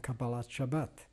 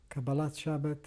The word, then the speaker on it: Kabbalat Shabbat: the Maariv prayer and Kabbalat Shabbat. Kabbalat Shabbat or Kabbalat Shabbos, depending on which particular pronunciation of Hebrew you prefer, is the welcoming of the Sabbath.